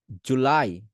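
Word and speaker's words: July: Same ভাবে জুলাই, জুলাই, জুলাই, জুলাই। যেভাবে বলতেছি সেভাবে বলবেন। আমি বলতেছি জুলাই, আপনি বলছেন জুলাই, জুলাই। আপনি জু টান দিতেছেন না। আমি লাই টান দিছি, আপনি লাইতেই টান দেন।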